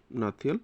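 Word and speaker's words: Hnahthial: আসারটা হবে option C হানান্তাইল Mizoram হাতিয়াল Mizoram নাতিয়াল Mizoram এই তো সাইলেন্ট হবে নাতিয়াল মিজোরাম ঠিক আছে বাংলায় দেওয়া আছে নামটা দেখে নেবে এখান থেকে।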